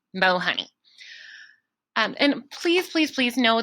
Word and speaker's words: Mohoney: mahoney at jeffco schools.us please know that my name is spelled m-o like mo honey not may honey it's kind of like i'm a little bit sweet but not that sweet mo honey and please please please